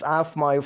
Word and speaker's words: aafmoi: prabhu swaminathan representing aafmoi the purpose-driven brand pronounced this afmai from india for the